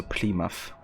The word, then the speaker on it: Plymouth: So is it Plymouth? Or Plymouth? American cities have some weird pronunciations even to English speakers. I gotcha, yeah. Close to the second way, so Plymouth. At least roughly.